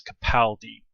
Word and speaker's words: Capaldi: I've confirmed that is how you're supposed to say it, is Capaldi.